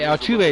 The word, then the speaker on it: Altuve: So Jose Altuve is how you pronounce his name.